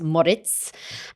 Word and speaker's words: Moric: name there so it's it looks like moric but actually it's pronounced Moritz and uh kbur is